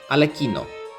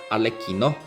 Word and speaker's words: Arlecchino: So in this case there's two pronunciation, Arlecchino or Arlecchino. People can pronounce it both ways. I've asked my Italian friends, they are friends, so both are valid pronunciations.